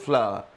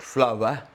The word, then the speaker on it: flour: The packet of flour. So here the pronunciation of this can be of different. People say that in British English it is flour, not flower, flower.